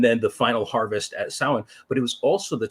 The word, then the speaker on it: Samhain: they wouldn't have reckoned the months quite the same way at that time approximately at that time